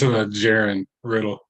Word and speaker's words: Jaron Riddle: I want to make sure I'm pronouncing your name correctly, Jaron Riddle, to introduce himself. He is our newest member of the OAC Council. Yeah, it's Jaron Riddle.